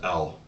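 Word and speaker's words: Elle: It's pronounced L.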